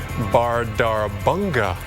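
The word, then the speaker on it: Bárðarbunga: bubbling up this is a very difficult to pronounce volcano here in Iceland it's actually called called the bardar banga volcano I think I said that correctly yeah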